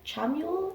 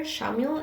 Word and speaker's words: Chamuel: It's spelled Chamuel. Kind of Samuel, but with a CH. So it's like Chandra and Chamuel.